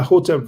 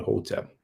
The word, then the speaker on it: hotep: Some people pronounce it hetep because the transliteration for hotep is actually HTP. That's a H with a dot underneath. And the convention of Egyptology is to add the vowel E between two consonants. Hence why they pronounce it hetep. But most likely, because of the Greek, people will know that the first sound will probably be a O sound, just like what we